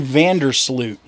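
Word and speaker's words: Joran van der Sloot: now that is Jordan vandersloot yo is that how you pronounce it like urine like urine yeah well that's honestly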